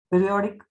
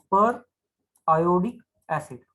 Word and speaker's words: periodic acid: अच्छा, पहले तो ये कंपाउंड ड्रॉ कर लेंगे, CH2 CH2 OH OH, पीरियोडिक या फिर पर आयोडिक एसिड। इसका एक्चुअल जो प्रोनाउंसिएशन आप वैसे भी कर सकते हो, पर आयोडिक एसिड।